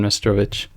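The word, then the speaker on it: Meštrović: It might be pronounced Stefan Mestrovich.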